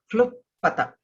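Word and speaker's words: क्लृप्तता: Ishvaraha vastu tatvajnaha nacha aham teshu avastitaha nacha matsthani bhutani iti evya vachi kluptata klupata. There's a r there. Klupata. There's half ka, full l and half r.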